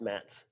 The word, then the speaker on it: Mats: It's not Matt. It's Mats. Mats Zuccarello.